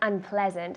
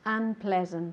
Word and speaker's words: unpleasant: Unpleasant. Perfect. Unpleasant. Good. Unpleasant. So get that proper pronunciation and the good emphasis. Unpleasant. Ple has the emphasis.